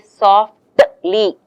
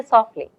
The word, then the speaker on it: softly: um in natural uh when you speak English naturally you don't pronounce the T you don't say softly you don't say like that you say softly the t is really